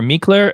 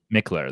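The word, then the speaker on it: Mikkeller: it me Keller it I always hear me Claire or mckellar it's just Nick ler Mickler there we go see I had the wrong pronunciation on there so I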